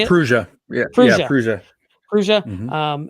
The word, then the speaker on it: Prusa: Prusa.